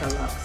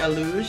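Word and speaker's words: Alux: a looks but it spelled like a lux yeah but they call it a luge and it's so beautiful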